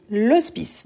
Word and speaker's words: hospice: pas de toute façon le H n'est pas prononcé en français donc hospice aspirer ou muet à la fin je veux je veux le résultat sur 60 donc et oui on dit l'ospice donc c'est un h muet ensuite on a ou